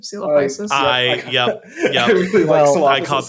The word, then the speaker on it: Coelophysis: very funny, which was it sounded like you were going to say Silophysis instead of Coelophysis.